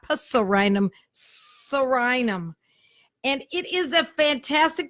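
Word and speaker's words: Psorinum: and the remedy is Suriname spelled PS the s R excuse me the P is silent like pneumonia you know the P is silent PS o R I n um Suriname not parcel random Suriname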